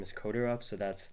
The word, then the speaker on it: Kodirov: Yes, so my name is Kodarov. That is spelled AI M. And then my last name is Kodorov.